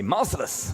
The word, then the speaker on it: Marcellus: We will fight Marcellus again, or as the Japanese say, Marcellus, which is a much cooler name, or pronunciation at least. It sounds like merciless.